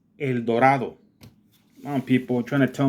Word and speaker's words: El Dorado: not Colorado it's Colorado it's not El Dorado it's El Dorado I'm people trying to